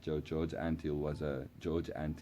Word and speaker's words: George Antheil: And we'll still get to it, but there was like 88 frequencies, and George Antheil, that's how you pronounce it. George Antheil, not Antheil. George Antheil was a pianist, and this system jumped through